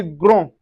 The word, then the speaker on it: grand: In masculine we say grand. Grand. The D is not pronounced, but once you have the E that is followed, we can say grande, which signify feminine.